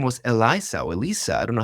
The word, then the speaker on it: Eliza: it name was Eliza Elisa I don't know how do you pronounce that is it with is with a z Eliza Eliza yeah Eliza much better names than Chan GPT or